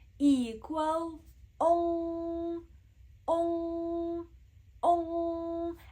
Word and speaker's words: ong: And pay attention how I am pronouncing this sound, because it's not just ong, ong, ong. You see, it's ong. You want to round your lips, ong, ong, as if you are pronouncing an O sound, but you are pronouncing an O sound, right? Ong, ong, ong. And of course, the sound is nasal.